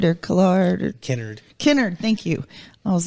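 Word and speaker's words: Kennard: know how you say his name exactly get canard or Clark innard Kinnard thank you I was like when canard is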